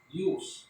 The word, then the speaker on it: jus: And the second is what we call the jus, hindi siya juice, no? Jus. It's pronounced as Y.